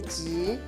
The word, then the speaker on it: 職: 這裡有一個字要特別注意它的發音，就是求職的職是一個很短促的音，求職。